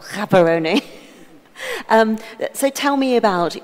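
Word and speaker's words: Gaborone: uh uh places in in caberon hold on I've mispronounced that as well kaeron um so tell me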